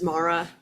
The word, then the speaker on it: Mara: And just a reminder for name pronunciations, Tara is pronounced Tara, Mara is Mara, and Uni is Uni.